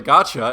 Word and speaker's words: gacha: young yeah yo is that how you pronounce it is it a gotcha game gotcha yeah yeah as in gotcha you're going to jail